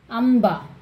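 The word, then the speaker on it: अंबा: Amba. See this? Imb. Baba, Baba, Ma, Im pronunciation, Amba.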